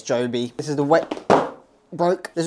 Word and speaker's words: Joby: culprit this is the Joby wo Pro I think I'm saying it right Joby or jobby I'm going to say it's Joby this is the broke